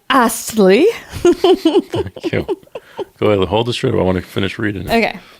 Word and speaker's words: Astley: Okay, pronounce the T, woman. Rick Astley.